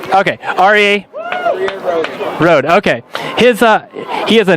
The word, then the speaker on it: Aryeh: So you're going to have to correct me if I pronounce this as Aryeh Rohde, right? Aryeh. Okay, Aryeh Rohde.